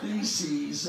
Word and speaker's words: theses: debate 95 followed by a word that rhymes with reese's 95 pieces theses actually it's this theology